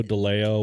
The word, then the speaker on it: DeLeo: Nathaniel from Dio Brothers. Yep. Did I say it right? Dio Deleo.